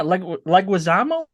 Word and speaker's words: Leguizamo: Um, You know, he John Leguizamo, is that how you say his name? He was like supposed to Wazamo. play. Yeah, Leguizamo, he was supposed to play the Vulture.